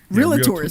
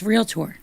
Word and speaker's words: realtor: Wait, how do you say that word? It's realtor. Yeah, it's real tour. It's not real, right?